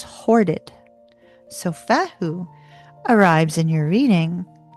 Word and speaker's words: Fehu: So Fehu arrives in your reading, ask